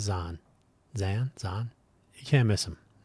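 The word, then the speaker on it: Zeihan: You can listen to or watch various presentations from Peter Zahan, however you'd like to pronounce his name. I think he says Zahn.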